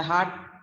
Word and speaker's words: heart: लिख रहे हैं हम heart, we're talking about heart, but when we say my heart is beating, it sounds like a H-A-T, my heart is beating, and it sounds or it rhymes with part and cart.